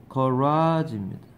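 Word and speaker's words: garage: 가라지? 게라지? 뭐냐 이거 발음? 미국식입니다. 미국식 발음은 얘가 미국식 발음이 이 책이 이제 두꺼워지니까 필기하기 어렵네. 미국식 발음이 가라지입니다.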